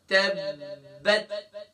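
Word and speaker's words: تبّت: اب اس کی ہجے کرتے ہیں. تا با زبر تب، با تا زبر بت، تبت. گویا کہ ہمیں یہ پتہ چلا کہ با یہاں مشدد ہے، یعنی با کے اوپر ڈبلیو سائن کی علامت ہے.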